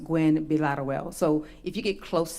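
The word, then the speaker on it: Gwinn-Villaroel: but it is pronounced well so it's actually pronounced Gwen bilateruel so if you get close to that I'm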